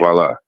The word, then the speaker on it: Kuala: Is this Kuala? Is how you say your name? Yes. Yes. Okay. Good to hear from you. Kuala.